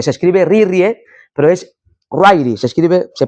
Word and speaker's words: Ryrie: Otro autor llamado Charles Ryrie, aunque se escribe Rirrie, pero es Ryrie, se pronuncia Ryrie.